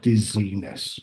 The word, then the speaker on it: dizziness: So, normally the ness is added to the end. So, the the last syllable is a little bit longer. Dizziness.